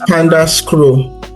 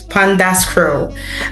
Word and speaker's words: Pandascrow: You led Pandascrow. I'm hoping I'm pronouncing that. It's pronounced Pandascrow. Pandascrow. You led It's Pandascrow. a fusion of Panda and Scroll.